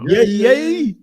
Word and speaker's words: Yae: I spell it like it sounds. YAE, Yae. But Yay!